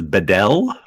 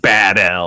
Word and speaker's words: Badell: So it's Badell. Yeah, nailed it. Okay. It's not like Badell or some other thing.